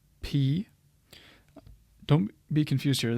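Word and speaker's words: π: o is in not P don't be confused here this is technically pronounced as you would say this letter P as English speakers were used to calling this Pi but this is really P capital P looks like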